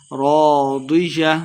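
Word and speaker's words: راضية: تلفظ سے پڑھنا ہے، راضیہ ضاد کو مٹا پڑھیں گے، را الف زبر را الف مد ہے 2 حرکات لمبا کر کے پڑھیں گے، راضیہ فی جنت عالیہ،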